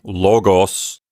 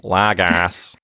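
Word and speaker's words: λόγος: should not do that I would Advocate not pronouncing Omicron as ah but instead of pronouncing it as o mostly for the sake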